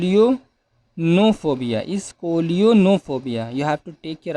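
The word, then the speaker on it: scolionophobia: next word is call you no phobia is scolio no phobia you have to take care of this spelling a little bit tough to pronounce but you can do it s-c-o-l-i-o-n-o p-h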